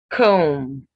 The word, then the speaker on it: comb: Comb. Dumb. Womb. So when you have MB ending words, the B is silent.